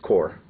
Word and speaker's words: corps: I know it's spelled corpse mhm it's core okay you know the p is silent you know so whatever